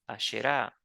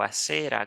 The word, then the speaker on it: Asherah: La sabiduría no es nada más y nada menos que Asherah o Asera, como lo pronuncia la Biblia.